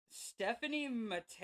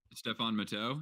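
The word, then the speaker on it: Stéphane Matteau: Nicholas sundstrom Owen Nolan Stephanie Mato I believe how I pronounce him Stefan matau Stefan matau or Tony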